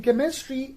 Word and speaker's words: chemistry: have that is chemistry in chemistry ch is placed at the beginning but the sound ch produces is k naught so that is chemistry another word we have